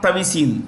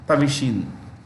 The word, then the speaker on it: Thavisin: Okay, Thai new prime minister is Shreta Thavisin. I'll spell it SRETTHA, Shreta SRETTHA, Shreta Thavisin, THAVISIN, Tavishin, Shreta Tavisin. Okay.